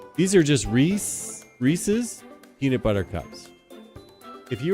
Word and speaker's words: Reese's: peanut butter those aren't Reese's Pieces they're Reese's Pieces the word is pieces what rhymes with pieces Reeses so that's how you know how to say this word Rees pieces